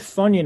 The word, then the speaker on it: Funyun: yeah it rhymes with funyun i was like why didn't you say it rhymes with onion yeah funyun is a